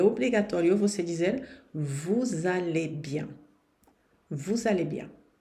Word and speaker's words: vous: Vous parlez. Aqui o S não se pronuncia porque depois vem uma consoante.